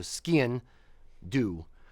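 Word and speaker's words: sgian-dubh: I try to my the trick I use for skin do is say it like skiing but leave off the last G so skin do um for that one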